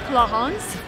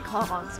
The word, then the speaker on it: Clarins: because of the name, I think it's clarins. But French people always laugh at me when I pronounce their words. But again, let's go in and check and ask what's the right way. I don't see any salespeople there. Well, let's see. Excuse me, can I ask you something, Brian? What is the right way to pronounce the brand name? Clarins. Clarins? Clarins. Is it not French? It's French, but it's still Clarins. Okay, thank you so much.